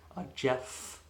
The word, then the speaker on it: Jepff: Jeff, and I literally spell it like Jepff. It was this joke that in Goblin, it's the sound of blowing air is like part of the language.